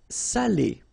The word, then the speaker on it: salé: So if you don't put the accent, it means dirty, and then you pronounce it sale. But in that case here, okay, you put the accent, and it's quite important because in that case it means salted, okay?